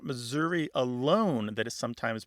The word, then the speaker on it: Missouri: Missouri or Missouri ah they say Missouri more like that e in get or met yeah and that readily lends itself to becoming a schwa so there are actually